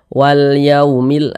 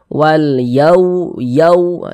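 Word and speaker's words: والْيَوْمِ: huruf Lin dia maka cara membacanya itu mudah ya lunak lembutah kita baca walyaumil jangan tekan-tekan ya lunak saja Wal Yaumil Wal Jangan dibaca walu yau jangan tekan seperti itu nanti sifat apa namanya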